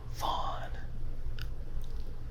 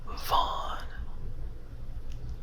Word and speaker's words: Vaughn: Vaughn. Vaughn. Vaughn. Now this is spelled different. This is V-O-N, but when I hear Vaughn, I think of Sarah Vaughan, who was an amazing vocalist, an amazing singer.